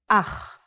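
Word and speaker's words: אח: Ach. The pronunciation is important. Try to pronounce it more glottally from your throat.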